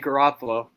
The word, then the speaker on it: Garoppolo: How do you pronounce his name again? Jimmy Garoppolo.